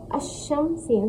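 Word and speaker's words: الشمس: इसको कैसे प्रोनाउंस करेंगे? हमज़ा शीन ज़बर अश, शीन मीम ज़ा शम, अशम, सीन साकिन, अशम्स।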